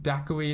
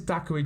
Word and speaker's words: Daqarie: formerly the almighty dak now i think daiquiri is how you pronounced it and he claimed